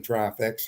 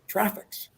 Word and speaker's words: Traffix: did you say and i said traffics he said how do you spell that and i spelled t-r-a-f-f-i-x and gord said you can't